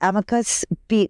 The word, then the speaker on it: amicus: I'm part of one of the organizations that filed the amicus briefs. What's that word? Amicus.